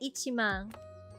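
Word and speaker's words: 一万: So for m we say ichimang.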